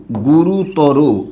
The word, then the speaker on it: গুরুতর: প্রত্যয় শব্দের শেষে দেখবেন তখন মনে রাখবেন যে উচ্চারণের ক্ষেত্রে ওই জায়গাটায় অবশ্যই ও হবে আশা করি এটুকু ক্লিয়ার